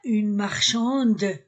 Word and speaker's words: marchande: Une marchande je prononce D.